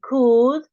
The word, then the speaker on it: could: l like in good we don't pronounce the L like in could we don't pronounce the